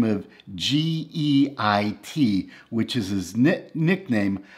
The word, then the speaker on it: Geit: by the name of g-e-i-t which is his nickname i believe it's pronounced geit it's a german nickname that comes from the german word for guide and guit showed me